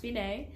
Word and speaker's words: fine: see the word finae it's spelled fine it's pronounced finae and you're just going to go all the